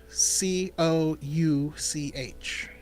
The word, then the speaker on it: Couch: everything off of is, well, it's spelled Couch. Couch, right? And you're like, oh, Couch Street. And you're like, no, it's Cooch Street.